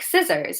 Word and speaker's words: scissors: Okay, so if it's preceded by the letter S, that means that we have an S and then a C. Okay, an S before the C. Like scissors, okay? S-C. Then the C is silent. Can you think of any other examples where we have SC and the C is silent? We pronounce it with an S sound.